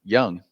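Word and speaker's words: Jung: I thought it was fitting that the Rangers won the World Series this year with a third baseman whose name is pronounced Young, because they had third baseman Michael Young for so many.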